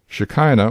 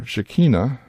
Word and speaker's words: Shekinah: So what does shakina really mean and how did it come to be associated with the glory of God? Shikina or Shikina as it may be pronounced is an Aramaic rendering